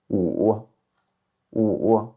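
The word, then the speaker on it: 五: Donc par exemple le chiffre 5 en mandarin se prononce ou ou.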